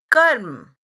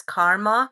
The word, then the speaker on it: कर्म: दृष्ट अदृष्ट जन्म वेदनीय karma, or in the Western world as it is known as karma. It is not pronounced as karma. It is a Sanskrit word karm, which means action.